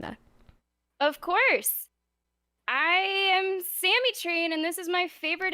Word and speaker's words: SammyTrain: I am SammyTrain, and this is my favorite interview on the Citadel.